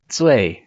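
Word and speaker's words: 罪: this is actually pronounced Zui. So it's actually it rhymes with Fei, let's say.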